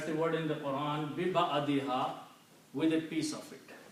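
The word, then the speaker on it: بِبَعْضِهَا: So when you read all these three words combined, you will pronounce biba'adiha, with a piece of it or with a part of it, the cow.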